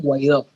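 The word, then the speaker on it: Guaidó: That's Yes, the correct pronunciation. yes, Yes. So, Juan Guaido.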